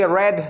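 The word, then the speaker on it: read: Main verb का second form रीड, रेड, रेड, spelling same होती है बट इसका प्रोनाउंसिएशन जो है वो रेड हो जाता है।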